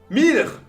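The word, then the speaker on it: Milch: sa carrière là-dedans c'est Miller herart Miller c'est comme ça qu'on prononce ceux qui font de l'allemand m i l ch m Herard m donc Herard m euh dites-vous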